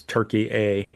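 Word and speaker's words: Türkiye: the modern day pronunciation now is Turkey A, but this is in biblical Anatolia, Yeah.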